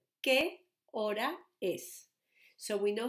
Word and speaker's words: hora: would be saying, ¿qué hora es? So we know how to say qué, como qué tiempo hace hoy. Hora, we have a silent letter here, hora es.